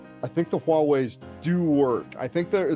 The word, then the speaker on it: Huawei: It is Huawei, isn't it?